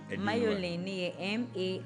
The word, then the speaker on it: Marjolein: Spell it. Mayolin, MAR.